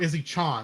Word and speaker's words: Izzy-chan: or Izzy-chan is really more how it would be pronounced.